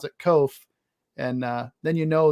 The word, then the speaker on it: Koch: version of it but the german phonetic pronunciation is like cough like with an f on the end so we we pronounce it kof rhymes with loaf and